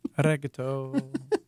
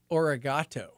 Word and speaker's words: arigato: No, it's arigato. People, some might say origato. Okay. But it's actually pronounced arigato.